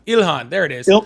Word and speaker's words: Ilhan: Ilhan. Ilhan. There it is. Ilar. Oh, Ilhan.